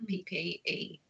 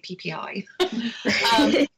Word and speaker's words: PPE: And it finished work, and especially wearing all that PPE. I said it right, because I usually say PPI.